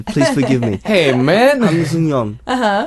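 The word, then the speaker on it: 한승연: Han Seung-yeon. Han Seung-yeon. It's she's really in a hard for him to small- pronounce that, though.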